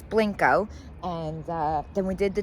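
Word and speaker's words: Blenko: We did question the pronunciation while we were there. We heard it straight from the horse's mouth, so it is Blanco.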